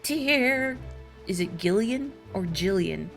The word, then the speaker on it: Gillian: ever met someone who spells it with the G when it's pronounced like Jillian what about Jillian Anderson